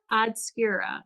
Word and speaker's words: Oddscura: the name odd skier it's how do you say odd skira odd skira yeah so well obscura being